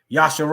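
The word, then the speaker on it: ישראל: Shin. Yasha. Okay. Ra. Re. Aleph. And Lamed. Yasharal.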